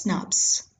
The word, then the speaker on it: snRNP: are promoted by small nuclear ribonuclear protein particles pronounced as snaps Snaps are formed by the Association of small